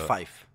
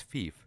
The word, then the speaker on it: fief: Fife. It's fief. No, I'm pretty sure it's fife. Fife? Yeah, it's probably fife. You put the wrong emphasis on the wrong syllable.